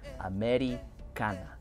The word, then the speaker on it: Americana: to pronounce it like Americana, which is how you would say it in Spanish.